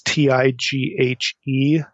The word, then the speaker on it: Tighe: appears online by William, I don't know if you pronounce his name, Tighe or Tighe. It's Tighe.